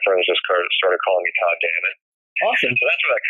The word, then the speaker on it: Todd Dammit: Well, Todd Dammit rhymes with a curse word. I'm not sure if we're allowed to say it. Absolutely. It just sort of rhymes with God damn it.